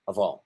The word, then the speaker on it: of: Let's remember that that F doesn't sound like a V, sounds like a V. I mean, so doesn't sound like an F, sounds like a V, as in Victor.